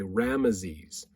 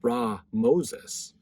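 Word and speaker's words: Ramesses: Okay, now this is interesting because when we see the word Ramses, what we pronounce it that same way, Rameses. The more proper way to say it is actually Ra Moses.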